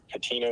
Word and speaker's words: Petito: I think Petito is correct. I'm pronouncing Petito, right? yeah, Gabby Petito, yeah.